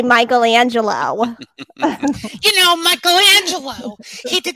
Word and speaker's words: Michelangelo: actually and i think if you have an mfa in dramaturgy perhaps you pronounce it michelangelo but i am from long island so i say michelangelo you know michelangelo he